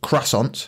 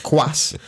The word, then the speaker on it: croissant: pastry the quas so it's not cant it's not that it's not how you say it CR cant it's not that no whatever that is that's not it yeah that's just not it it's quas or or oh right okay